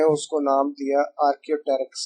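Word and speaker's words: Archaeopteryx: तो वहां पर कुछ फॉसिल्स डिस्कवर हुए और साइंटिस्ट ने उसको नाम दिया आर्कियोटेरिक्स का। ये पी साइलेंट है यहाँ, तो थोड़ा ट्रिकी नेम है, बट you will have to remember that.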